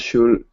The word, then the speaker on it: should: this word is next the word is should the L is silent so we don't say